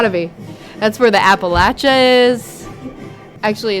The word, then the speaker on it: Appalachia: That's where the Appalachia is. Actually, it's uh it's pronounced the Appalachia because they'll say if you say it's the Appalachia, then they'll throw an apple at you.